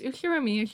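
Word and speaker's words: Ushiromiya: His name is, fuck you, pronounced Uchiramiya George.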